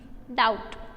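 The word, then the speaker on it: doubt: डाउट, could, could में है L, डाउट में है B साइलेंट वर्ड, वॉक में है L साइलेंट वर्ड।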